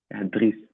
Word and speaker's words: Dries: Then Dries Martins from Galatasaray. Is it Dries or Dries? Dries.